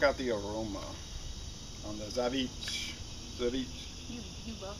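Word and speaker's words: Żywiec: how to pronounce it the only way I really found out was I watched some commercials for each polish commercials cuz I saw people saying all kinds of stuff Z week and all that but I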